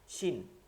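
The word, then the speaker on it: ش: শিন, এটার মধ্যে তালে বসার উচ্চারণ থাকবে, তাফাসসির হরফ, মধ্যে বাতাস চলে, ওই যে জিব্বার ফাঁকটা থেকে, তালু আর জিব্বার মধ্যখানটা থেকে একটা বাতাস বের হয়ে আসে। একদম তালে বস্বর উচ্চারণ, একদম তালে বস্ব,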